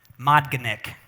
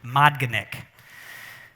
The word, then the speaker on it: MODGNIK: has helped me remember this, is this word, MODGNIK. That's how you pronounce it, MODGNIK.